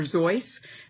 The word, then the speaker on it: Seuss: kind of fitting if we called him Dr zoy because that Whimsical kind of sound is I